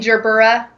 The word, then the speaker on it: gerbera: Oh my gosh, I bought some Gerber daisies the other day. You mean gerbera? Is that really how they're pronounced?